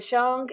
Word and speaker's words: Shang: Then are the Shang and the Zhou dynasties, to pronounce them correctly.